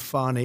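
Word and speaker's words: Fani: uh da you know Fanny Willis right Fanny Willis uh she treated you very unfairly she goes by the name of fonnie even though it's F A ni I she wants to pronounce fonnie she's little little French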